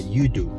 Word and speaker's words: Yudu: It's a bridge, just like, and you pronounce it like Sea-do, but Yudu. Yudu Bridge.